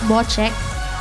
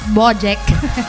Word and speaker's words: Bojek: Ang pronunciation talaga niyan is Bochek. Pero dahil nga Ilocano tayo, so matigas Bojack. Bojack, ganon. Bochek talaga siya.